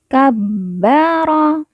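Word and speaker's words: كَبَّرَ: Di sini ada kalimat, di sini ada huruf ba yang bertasdid, maka cara bacanya ba ditekan, ditahan 2 harokat. Kabbara, kabbara.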